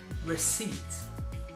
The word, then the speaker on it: receipt: next word is receipt receipt and again if you have a look at the actual spelling of this word that P is silent so it's receipt not receipt now what this is